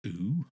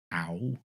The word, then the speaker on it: OU: from the band o I wasn't sure how to pronounce this initially I thought o ow it's definitely o I've been I've been